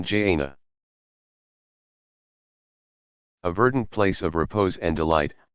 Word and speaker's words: Jannah: paradise is called the garden Jannah pronoun Jana a verdant place of